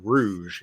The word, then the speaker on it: Rouge: Nathan's best friend is named Rouge. You know, like what you put on your cheeks when you're putting makeup on, for reasons it's explained in the book.